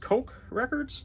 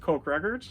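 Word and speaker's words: Koch Records: And this was released on March 25th of 2003, and I believe it's pronounced Coke Records.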